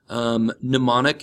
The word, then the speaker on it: mnemonic: eidetic i Dedic mnemonic the M is not pronounced mnemonic is a reminder or